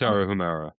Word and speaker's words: Tarahumara: It's Tarahumara. Tarahumara, okay.